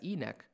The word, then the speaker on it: ENEC: are qualified to issue enec certification commonly pronounced as e-neck this certification mark demonstrates